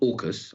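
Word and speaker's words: AUKUS: kingdom this new uh so-called orcas i think that's how we've all decided in westminster to pronounce it yes deal between australia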